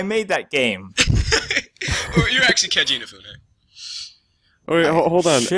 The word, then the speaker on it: Keiji Inafune: You're actually Keiji Inafune. Oh, wait, hold on. Shit. At the risk of sounding stupid, is that actually how you pronounce his first name? Yes, Keiji Inafune.